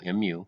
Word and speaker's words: mu: they kind of explain it but that is pronounced mu mu mu and notice we've got the sigma there